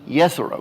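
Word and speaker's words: Jezero: to a place called the jezreel crater pronounced correctly yes arrow creator it's uh a old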